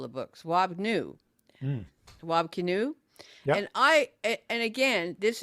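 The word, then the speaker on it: Kinew: But I heard canoe, but it's pronounced canoe, but it's K I N E W.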